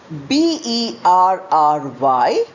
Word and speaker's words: bury: So both the words are homophones pronounced as berry.